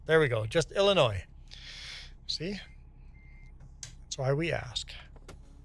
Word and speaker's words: Illinois: So you're from Illinois yourself and the S is silent. There we go. Just Illinois.